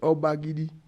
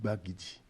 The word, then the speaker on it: Obagidi: quoi c'est obagidi obagidi c'est un nom Nago c'est les Nago qui lui ont donné le nom mais le Français qui on était sous la colonisation qui ne pouvait pas prononcer correctement le mot Nago à francisé pour dire bagidi c'est quoi c'est obagidi